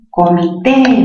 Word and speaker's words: comité: Comité. Mayor fuerza en qué sílaba? En la sílaba T.